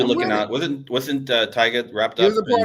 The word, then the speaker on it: Tyga: is it Tiga or Tyga? How do you say the name? Tyga.